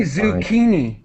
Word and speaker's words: zucchini: and I had sushini we say zucchini zucchini okay yeah good d